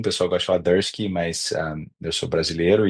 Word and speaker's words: Durscki: Aqui na América do Norte não é tão comum, o pessoal gosta de falar Dursky, mas eu sou brasileiro e de família imigrante do leste europeu e é Dursky mesmo, então tá perfeito.